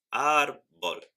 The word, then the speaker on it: árbol: o s por ejemplo la palabra árbol es llana árbol tiene el acento en la segunda sílaba y necesita acento escrito